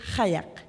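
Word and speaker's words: qajaq: nominated album Sedna and the proper way to say kayak is hayek good job guys all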